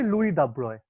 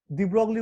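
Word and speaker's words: Louis de Broglie: মানে যাকে আমরা চিনি, দিব্রগলি উচ্চারণটা করবে না সব জায়গাতে। হ্যাঁ দাব্রয় উচ্চারণ, দাব্রয়, দিও না, দাব্রয়। হ্যাঁ, লুই দাব্রয়, ফ্রেঞ্চ।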